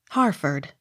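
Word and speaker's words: Hertford: h e r t f o r d harford h o m e hume h u g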